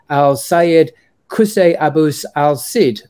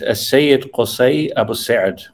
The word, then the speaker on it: As-Sayyid Qusay Abus Sa'd: of the Iraqi sage Al-Sayyid Qusay Abus al-Sid. Sorry to butcher that. Could you pronounce that correctly? It's actually difficult even for Arabs. It's As-Sayyid Qusay Abus Sa'd.